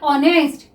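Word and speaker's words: honest: ठीक है, अब नेक्स्ट देखिए ऑनेस्ट. देखिए ये जो हमने लिखा हुआ है स्टूडेंट, इसमें हमारा एच साइलेंट रहता है, इसको हम क्या रीड करते हैं? ऑनेस्ट.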